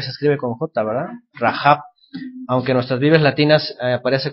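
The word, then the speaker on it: Rahab: con jota porque se escribe con jota verdad rajab aunque nuestras vidas latinas aparece con h en el hebreo aparece con un sonido de la gente rajab bueno qué ocurrió aquí esta mujer miente a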